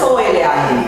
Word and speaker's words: Olam: ¿Cómo se escribe? El eterno. Bueno, lo castellanizado es O-L-A-M, ¿no?